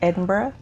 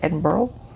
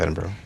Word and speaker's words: Edinburgh: Uh so I'm in the the capital city, Edinburgh. Okay. But Americans tend to pronounce it enber.